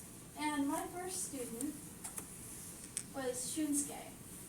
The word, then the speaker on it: Shunsuke: And my first student was Shunsuke. That's how you pronounce it, I think.